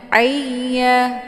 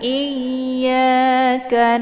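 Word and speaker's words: إِيَّاكَ: Iya, jadi suaranya itu agak sedikit gemang. Jangan ayya. Kalau ayya itu seperti membunyikan bunyi ain ya, salah posisinya, jadi bacaan juga ikut salah. Iya, ditekan. Iyyaka na'budu wa du di sini jangan dibaca panjang ya.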